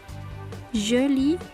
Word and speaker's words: joli: Puis, joli masculin, joli féminin. C'est la même prononciation, on ajoute seulement pour le féminin un E à la fin.